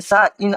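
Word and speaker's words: sign: लेकिन हम लोग जी को हटा देते हैं और यहां पर साइन रहता है।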